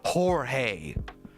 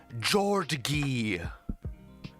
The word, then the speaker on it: Jorge: me when you can't even learn how to pronunciate Jorge they called him they called him Georgie the teacher was like is Jordan here hello Georgie can you raise your hand